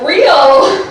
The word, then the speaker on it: Reil: you're in florida so my last name is pronounced real which is why god